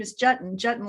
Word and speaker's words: Juetten: that's most people know what a button is jutting rhymes with button now you'll never forget i love